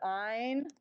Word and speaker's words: Einstein: You pronounce the second letter, Einstein.